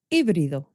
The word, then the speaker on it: híbrido: That word is going to be hybrid, híbrido in Spanish, because we don't pronounce the H. The H is silent.